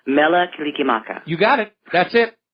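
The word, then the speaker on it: Mele Kalikimaka: Mela Kilikimaka.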